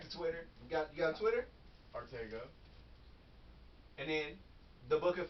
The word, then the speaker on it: Arttacgo: Arttacgo. The C is silent.